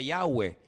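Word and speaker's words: Yahweh: letras y Bad he verdad ese nombre se pronuncia yahwe Ese es el nombre que aparece en el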